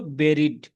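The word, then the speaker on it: buried: এটার উচ্চারণটা হল বেরিড।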